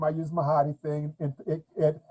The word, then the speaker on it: Mahdi: is because that's why I have that weird pronunciation of my name right now, Mahdi.